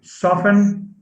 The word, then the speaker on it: soften: a suffix soften yeah soft has a t as a phoneme but soften has a silent t so it says soften now soften is to make